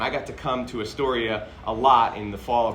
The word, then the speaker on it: Astoria: which I've I learned at that time is pronounced a Store Astoria not a story and I still am about 50 on my